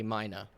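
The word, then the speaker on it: Maigne: they call it or the locals say mina is how they pronounce it m-a-i-g-n-e is how they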